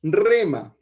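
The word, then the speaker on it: ῥῆμα: Por tanto, podemos decir que su equivalente en griego es rema, se escribe R-H-E-M-A, que es la palabra dirigida a los creyentes por medio del Espíritu Santo en un determinado momento.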